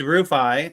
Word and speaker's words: Roffi: token on Merlin called I I I pronounced it rufy on accident in the pre-show he's like I was like no no it's it's roffi uh which obviously you